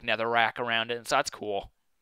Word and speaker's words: Netherrack: get it it's called Netherrack I thought it was going to be called nether rock but nope it's Netherrack or at least that's what it's spelled like so um remember how